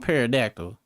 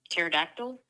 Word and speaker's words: pterodactyl: Have you ever heard me say parodactyl before? No, cuz that's not a word. I'm getting referring to the Are you referring to the dinosaur, the pterodactyl? But it's a P. I know the T is silent narrow, but I ain't seen no damn T.